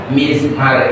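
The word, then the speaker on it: مزمار: Tapi kalau kebanyakan orang menerjemahkan mizmar itu seruling. Coba kita lihat. Bikasril mimi, bacanya dengan mengkasrohkan huruf mim, mizmar.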